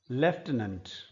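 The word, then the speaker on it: lieutenant: Leopard leopard army का एक और शब्द है लेफ्टिनेंट। लेफ्टिनेंट लिखने में लटिनेंट है।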